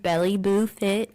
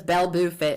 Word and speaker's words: BelleBooFit: they're on my Instagram, Belly Boo Fit. It's BELLEBOOFIT. Let me tell you, everybody says Bell. I'm like, dang, I forget that we don't pronounce the E here. So it's Bell Boo Fit, and I'm like, ew.